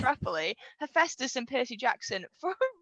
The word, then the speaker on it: Hephaestus: so hephaestus which i now know how to pronounce roughly hephaestus and percy jackson for a really long time i can't believe i've mentioned this on like in a public route for a really long time was hepatitis i was waiting for it i was like